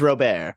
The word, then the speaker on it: Robert: on and I'm sorry it's Luis Robert believe it or not it is Robert I have found out